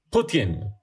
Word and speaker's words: Putin: En ruso, me dicen aquí mis fuentes de Twitter, se dice Putin. Putin. Con acento en la U.